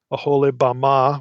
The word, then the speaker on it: Oholibamah: Oholibamah would be a better pronunciation in Hebrew.